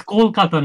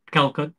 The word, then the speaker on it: Kolkata: not Kolkata okay good no it's Kolkata not Kat he said Kat but it's actually oh okay I I